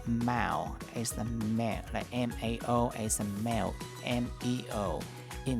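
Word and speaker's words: 猫: rabbits in China or in Chinese they pronounce Mao m-a-o and in Vietnamese the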